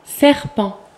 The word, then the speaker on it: serpent: Serpent.